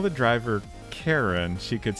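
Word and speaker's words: Charon: Um, like I think you know the thought I had was like I feel like it's slightly more common to pronounce Karen as Sharon.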